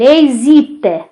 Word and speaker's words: hésite: Elle hésite.